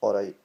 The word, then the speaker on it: alright: Just say it like, alright, that T doesn't get said, it comes for the back of the throat, really.